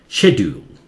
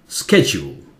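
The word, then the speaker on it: schedule: England में उसे बोलते हैं शेड्यूल, शे जोर से ड्यूल, शेड्यूल, ठीक है। अमेरिका में इसे बोलते हैं स्केड्यूल, ये ज हो जाता है या स्के हो जाता है, स्केड्यूल।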